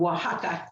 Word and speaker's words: Oaxaca: and teachers and principals in the state of oaxaca o-a-x-a-c-a um everyone has problems um pronouncing if they don't if they haven't heard